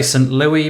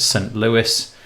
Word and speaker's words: St. Louis: Louis I always want to say some low E but I'm pretty sure you pronounce it st. Louis and yeah there you